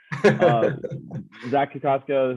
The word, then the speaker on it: Zach Kokoska: We are joined by Zach Kokoska. Did I say it right? Yeah. Yep, that's the right. I got nervous. We just talked about it. Zach Kokoska, who was just drafted in the 2020 draft in the 10th round.